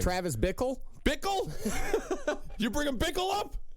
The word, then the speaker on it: Bickle: Travis Bickle? Bickle? You bringing Bickle up? It's that name that rhymes with pickle.